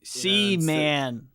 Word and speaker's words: Seaman: I'm glad that the way that you pronounced it was you said Seaman. Seaman. Like the Sega game.